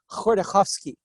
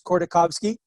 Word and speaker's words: Khodorkovsky: So there's a guy named, and I can't pronounce Russian perfectly, Mikhail Khodorkovsky. I think it's Khodorkovsky.